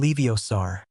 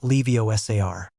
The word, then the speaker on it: Leviosa: Leiosaur, said Ron. Well, there's your other problem, Ron, said. Hermione. You're pronouncing it wrong. It's Leiosa, not Levios.